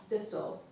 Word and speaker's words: distal: He looks deeply, sincerely into my mouth and says, distal. Rhymes with pistol.